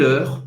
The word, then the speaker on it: heure: O E no final, ele não vai ser pronunciado, como na maior parte das palavras em francês.